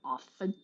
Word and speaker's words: often: and in the word often the tea has been silent for 500 years since Queen Elizabeth chose to drop the T and that's the standard